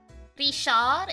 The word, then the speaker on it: Richard: like Gom is the French equivalate of William Rishad is Richard which is like pretty self-explanatory Suzanne